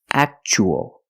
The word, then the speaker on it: actual: and the second word we see Tua as a second syllable so the t is pronounced CH actual actual means real and